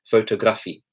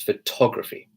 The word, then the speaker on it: photography: have the word photography I've hired photography being mispronounced due to these stressed syllables kind of her that being pronounces photograph II photograph II know it's photography so I'm gonna pause